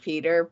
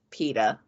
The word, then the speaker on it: Peeta: Because it's like I think I think some people just say it in a way that sounds like Peter, but it's Peeta, like the bread, but not spelled the same.